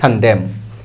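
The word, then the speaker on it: condemn: এই নিন্দাকে আমরা ইংলিশে বলতে পারি খানডেম। এন এর উচ্চারণটা হবে না।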